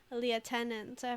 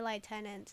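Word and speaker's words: lieutenant: but he's a manager um no no I pronounced it liutenant for the longest time um the reason I pronounce the LI tenant now is because I think I heard it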